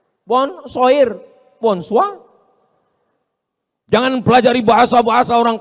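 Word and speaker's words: bonsoir: Emangnya bahasa Prancis mudah tulisannya bonur bacanya bonjou. Bon soir, bonso jangan pelajari bahasa-bahasa orang kafir ini.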